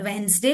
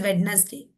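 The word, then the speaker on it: Wednesday: Like in the word वेंसडे, वी डू not call this as वेडनेसडे। ठीक है, we call this as वेंसडे।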